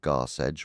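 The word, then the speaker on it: Garsecg: For instance, Garseg, pronounced Garseg, was one of many Old English terms for the sea.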